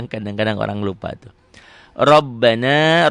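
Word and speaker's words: رَبَّنَا: Rabbana, ro-nya tebel, ba-nya double, na, matobi la, matobi tu'a.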